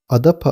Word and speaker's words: Adapa: Harflerin fonetik değerleri esas alındığında sözcük a da pa olarak okunur. Akaça fonetik sisteminde a açık bir ön ünlü, da diş eti bölgesinde oluşan bir hece, pa ise çift dudak ünsüzü ile başlayan açık bir hecedir.